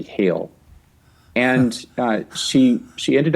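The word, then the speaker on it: Geel: is spelled gheel and I think the pronunciation is typically hail and uh she she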